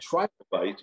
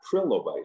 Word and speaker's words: trilobite: at the beginning that it's a try to fight not trillo bite because it's great it